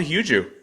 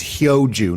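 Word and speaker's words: 효주: It is Hyo Joo, not Hyo Joo. Hyo Joo. Sorry, everyone mispronounces it, and including Nelly Korda in her post-round presser. So I'm letting you off the hook, but no more. It's Hyo Joo.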